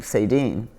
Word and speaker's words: Saydean: I also changed cuz I was born Sadian and when I was in kindergarten my teacher mispronounced it and I said I like this one better and that's how I became Sadine.